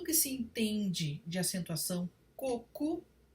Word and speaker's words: coco: Por tudo que se entende de acentuação, coco é uma palavra paroxítona terminada em o e não leva acento.